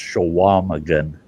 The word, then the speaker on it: Chequamegon: Yeah, it's pronounced Chequamegon.